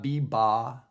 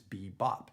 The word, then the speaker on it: bebop: popped too right it's not B ba it's B Bop it's not Bop B it's perfect isn't it